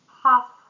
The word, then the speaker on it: half: Fen listen please listen carefully to the proposal and silent L half would should we should review the contract.